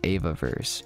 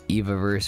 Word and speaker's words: Evaverse: of and they also mentioned the proper pronunciation the founder did at least while he was speaking he said it was eva verse so i've been calling it eviverse or evaverse based off